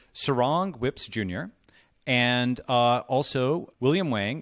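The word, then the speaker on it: Surangel Whipps: of Palau, and please tell me if I'm pronouncing this correctly, Surangel Whips Jr., and also William Wang, who's the founder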